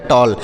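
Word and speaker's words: tall: इस तरीके से पढ़ेंगे तो यानी कहने का मतलब है ए के बाद अगर डबल एल का प्रयोग हो तो ए का उच्चारण आ ऐसे करते हैं आ ऐसे करते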